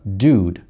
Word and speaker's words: dude: Я произношу как dude. То есть что получается? Звук У отсюда передвигается, чуть-чуть идет вперед. Он двигается к французскому практически звуку У.